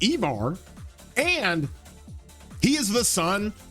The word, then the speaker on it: Ivar: He is pronounced Ivar. I got that confirmed, by the way, from some people who actually know that language, that it is pronounced Ivar, and he is the son of Ragnar, okay?